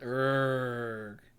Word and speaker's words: Erg: Erg. Oh. That is how that's pronounced, is Erg. Erg.